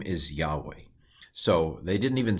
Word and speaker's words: Yahweh: very special word uh y h v h or y-h-w-h depending on how you translate the Bob so this is Yahweh this is the name